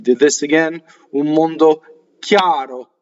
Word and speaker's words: chiaro: Notice that I-A, chiaro. It's a semi-vowel from the E position. No Y, chiaro, right? No, chiaro. No Y in between. Even though the IPA probably says is a Y, I believe, right?